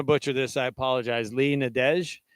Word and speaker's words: Nadesh: She's Nadesh. But I pronounced that right.